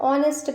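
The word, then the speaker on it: honest: एच ओ एन ई एस टी में एच होता है साइलेंट। तो इसे हम ऑनेस्ट पढ़ते हैं।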